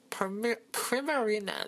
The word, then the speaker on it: Primarina: So on my side here, I'm using ALOLAN Ninetales, my starter Pokemon Primarina, that's how you say it.